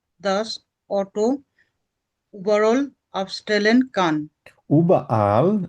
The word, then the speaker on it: überall: উবাআল, এভাবে বলবেন, উবাআল।